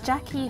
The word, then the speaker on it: Gyakie: In Ghana, where I come from the Ashanti region, where we speak Tri, the language called Tri, anything that is written in G-Y is pronounced as J.